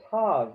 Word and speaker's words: tav: So what they're showing you here is that the tav at the end, if you don't have a dagesh in the tav, in Ashkenazi, it's pronounced as an S. In Sephardi, as a T. In the Sephardic dialect, dagesh or not, it's pronounced as a T, as a tav, but it's Ashkenazi as an S, and the accent also changes.